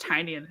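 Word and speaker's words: Tynion: Um also it's pronounced Tinian.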